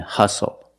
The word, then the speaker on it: hustle: We also see the silent T when you have the spelling pattern S-T-L-E. Like these words, whistle, castle, and hustle.